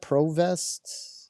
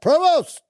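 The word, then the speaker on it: Prevost: Provest. Uh P re V O S T. Pst. Post. Provost. We'll say it like that. Provost.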